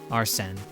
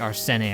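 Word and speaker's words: Arsène: I went back and listened, and it sounded like they pronounced it Arsene, not like Arsene or whatever I said.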